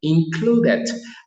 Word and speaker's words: included: Included. Aquí pronunciamos that porque hay una D antes y el verbo es regular y le agrego ed, esto que está acá, por eso digo included.